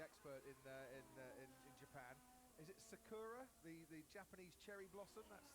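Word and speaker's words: 桜: Or Sakura, if you want to pronounce it with its Japanese pronunciation.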